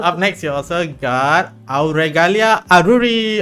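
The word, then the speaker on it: Auregalia Aruri: next you also got aalia aruri okay I didn't screw that anyway please introduce yourself that was like the only time anyone has ever pronounced my name accurately hello everyone welcome to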